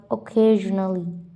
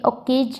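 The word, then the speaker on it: occasionally: double L एल वाई ऑकेजनली यहां पर मेरी प्रोनाउंस सुनिए मैं ओकेज नहीं कह रही हूं यहां पर कभी-कभी सी की जो प्रोनाउंस है ख भी निकलती है ऑकेजनली ओजली ऑकेजनली ठीक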